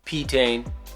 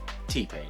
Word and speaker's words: T-Pain: P-Tane. T-Pain.